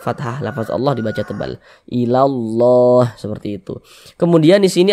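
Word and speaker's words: إلا الله: Jadi dari la langsung masuk ke huruf lam yang ada tanda bacanya ini. Ilallah. Makanya alif lam syamsiyah itu disebut juga dengan idgham syamsiyah.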